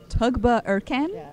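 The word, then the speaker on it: Tuğba Ercan: a n tugba arjan well it's pronounced tugba Eren in English but yeah you can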